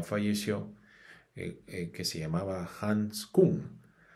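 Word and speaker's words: Küng: que se llamaba Hans Kuhn. Creo que en alemán se pronuncia King, pero no estoy seguro porque no hablo alemán. Pero autor, teólogo Hans King, a pesar de ser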